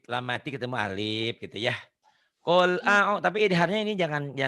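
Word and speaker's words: قُل: Qul a'u. Tapi idharnya ini jangan keliru ya. Ini idhar lamati atau lampiil. Biasanya ada di kata kerja ya. Kata pekerjaan. Qul, katakan. Makanya bacanya jangan kul, tapi qul.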